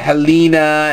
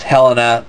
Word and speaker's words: Helena: So some people were pronouncing it Helena, and the other ones pronouncing it Helena, and finally they just buried the hatchet one day and said, alright, it's Helena, that's it.